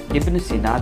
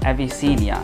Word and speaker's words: Ibn Sina: system they did not work pronounce the word ibnucina they pronounced the word avicinia and therefore he is known as avicinia even